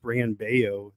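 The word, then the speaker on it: Brayan Bello: mention uh about bran i believe it's actually pronounced brian baio the elves are pronounced as wise he's he's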